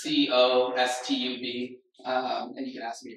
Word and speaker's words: Kaustubh: So my name is Kaustubh. It's pronounced Costub.